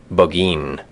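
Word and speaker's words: Burgoyne: Nothing had a famous fox hound named Burggoyne. He pronounced it boin which my informant used to borrow.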